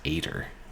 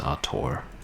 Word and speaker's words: auteur: the was brilliant but tts keeps pronouncing it as ater you know like ater is gonna eight i'm assuming it was auteur renaissance barbarian now that's